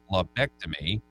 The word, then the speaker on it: lobectomy: In a procedure called a pulmonary lobectomy, yep, I pronounced that right, the cancerous growths were discovered